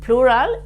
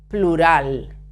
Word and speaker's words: plural: is singular singular and plural is plural plural okay don't don't pronounce explosive P plural okay so now